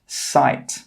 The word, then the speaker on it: site: This word is pronounced sight. We pronounce the s, we pronounce the I, and we pronounce the t, but we don't pronounce the e. The e is a silent letter.